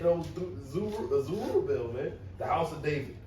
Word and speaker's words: Zerubbabel: Zerubbabel, right?